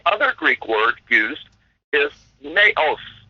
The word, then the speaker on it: naos: Greek word used is naos naos or or I I suppose it would be pronounced uh more appropriately na n okay so n a o s so see Iran